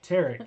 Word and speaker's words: Tarek: and it stars uh Tariq um if you remember I think it's pronounced Tarik Tarik it is see I told you